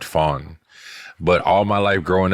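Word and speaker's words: Pham: I've heard people say just so you know the crazy thing is it's it's for so for my last name with the N like we pronounce it Fawn but all my life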